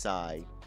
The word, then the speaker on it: Psi: Fun fact, PSI is non bay and pronounced sigh.